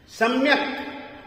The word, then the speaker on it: सम्यक: उच्चारण इसका जरूर होगा, आप इसको साइलेंट नहीं कर सकते हैं, क्योंकि संस्कृत प्राकृत